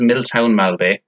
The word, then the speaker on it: Milltown Malbay: So, firstly, it's pronounced Milltown Malbay.